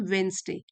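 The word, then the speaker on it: Wednesday: Could not read every वेडनेसडे D silent होता है। इसको प्रोनाउंस करते हैं वेडनेसडे।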